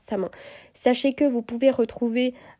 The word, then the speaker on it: Samhain: Sachez que moi, je vais dire Samin. Voilà. J'aime pas trop avoir les accents. Même c'est pas un accent, mais j'ai pas la prononciation. Et moi, j'ai appris en disant Samin, donc ce sera Samin.